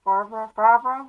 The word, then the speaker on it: Favreau: I was watching this movie Chef with John Favreau.